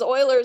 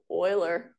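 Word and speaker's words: Euler: is so this is Oiler number I only mentioned how to say his name so you don't sound like you don't know what you're talking about Oiler is how you say it um so e is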